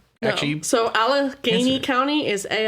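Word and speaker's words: Allegany: And then you So Alaney County is A L L E G A N Y.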